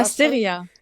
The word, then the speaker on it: Asteria: And for me, Asteria, how do you pronounce it? Yeah, Asteria.